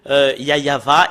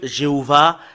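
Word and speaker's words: יהוה: fait de prouver que yayava est vrai que j'appelle souvent et le fait de prouver que jéhovvah est faux et ahova et faux et Yahou également et faut que tout le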